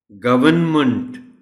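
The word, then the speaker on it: government: Correct pronunciation इस लफ्ज़ का है गवर्नमेंट. R साइलेंट है, नहीं है R.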